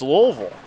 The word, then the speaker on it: Louisville: hear that as Louisville Slugger that's how it's pronounced so then people have carried that brand name over to the town when it's louville this is Big Time stuff here this morning